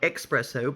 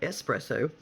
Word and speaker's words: espresso: nervous okay number 25 espresso not expresso but espresso espresso means pressed out